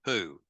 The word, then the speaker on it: POU: destruction of choice, or my POU, my poison once used, pronounced poo, or other reframing that